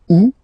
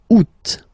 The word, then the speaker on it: août: And then here, two options because, well, two options are acceptable in French. The first one, you don't pronounce the final T. Ou. Second one, you pronounce it août.